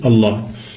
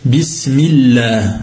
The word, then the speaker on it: Allah: Rahim et on commence par le nom de Allah vous aurez remarqué que lorsqu'on prononce on dit Allah en emphatisant le LEM